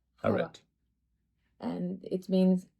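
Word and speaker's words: حواء: Hawa.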